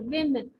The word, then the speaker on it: women: what they are seeing so woman but it's actually women okay so the opio is sounding as he so women women so that is what